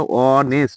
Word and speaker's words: honest: যেমন এখানে যদি আমি লিখি ওয়ানেস্ট, HONEST, এটা কিন্তু ভয়েল দিয়ে শুরু হয়নি, তারপরেও কিন্তু এর উচ্চারণটা অনেস্ট, ও আসছে, তাই এখানে অ্যান হবে।